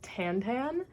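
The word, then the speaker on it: Tintin: gonna hate me, but I pronounce it Tantan because that is a bastardization of the way the name is actually supposed to be pronounced in French.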